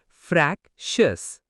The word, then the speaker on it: fractious: Vocabulary 19, fractious. Pronunciation, frac-shus.